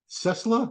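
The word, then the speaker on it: Ciesla: him m-a-i-k cessla like Tesla but it's c-i-e-s-l-a uh I don't know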